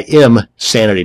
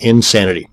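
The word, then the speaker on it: Imsanity: another one is imanity that's I IM sanity not Insanity both of these once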